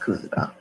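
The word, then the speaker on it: Coosada: It's pronounced Kuzada.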